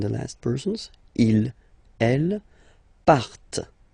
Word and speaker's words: partent: And the last persons, il, elle, partent. Remember, classic ending, ENT, but then you don't pronounce them.